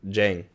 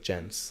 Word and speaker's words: Jens: My mom says my name in Spanish like it ends with a G, like Jeng.